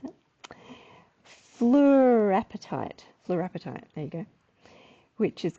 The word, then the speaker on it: fluorapatite: And all the boffins out there will be like, that's not how you pronounce it. Fluorapatite. Fluorapatite, there you go.